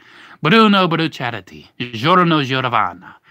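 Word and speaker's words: Bucciarati: Bruchadati. Yeah, that's how you say it. Bruchadati. Bruno Brucciarati. And you have to say it with like a little Italian fling to it too. Bruno Brucciarati.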